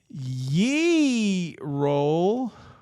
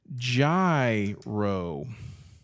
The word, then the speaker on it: gyro: Do you say ye roll, or are you wrong, or do you say gyro? Let's put ye roll here phonetically. Ye, like yeehaw, roll. Gyro.